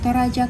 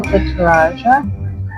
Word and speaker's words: Toraja: So this is the Toraja. I can't pronounce the name of the coffee, so I'm gonna let my wife pronounce that. Toraja.